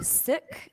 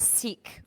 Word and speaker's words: Sikh: I'm having on because here we would pronounce like you know the Western world pronounce it seek but it's actually sick not like you're sick